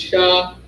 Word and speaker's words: Sha: But first Sha, as in Shamar or Shawamar, which means to watch. And Sha, to me, in the ancient Hebrew, looks like a big W. And Shah is spelled S-H-A.